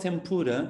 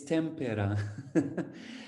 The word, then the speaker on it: tempera: from eloise egg tempera so it's not tempura it's tempera an egg tempra just